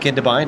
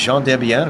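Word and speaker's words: Gendebien: So it is not Kindebine, it is Jean Debien, apparently a Belgian driver, sports car driver.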